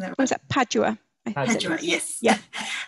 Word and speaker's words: Padua: um nicole asks about the botanical garden in perdue usually i don't know if i'm pronouncing that what's that padua yes yes how was it arranged at that